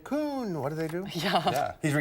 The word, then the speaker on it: Kuhn: How do you say it? Kuhn.